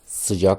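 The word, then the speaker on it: sıcak: د وضیت سجاق گرم سجاق با ا تلفظ میشه یعنی طولانی نیست خفیف است صداش سجاق سوش داره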